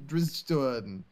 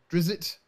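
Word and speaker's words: Drizzt: d i it is dritz right there's not an ey at the end of it yeah it's dritz how would you pronounce it I always call him driz I've heard him dritz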